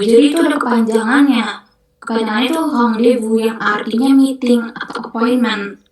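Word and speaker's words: rendez-vous: Itu kalau dalam bahasa Perancis ee kita ngomongnya hang Devu. Hang devu. Jadi itu ada kepanjangannya. itu Hong Devu yang artinya meeting atau appointment gitu.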